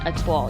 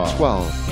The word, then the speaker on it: Étoile: that it's pronounced like a wall, but with a T in it, a toile. You don't have to say with a French accent. Étoile.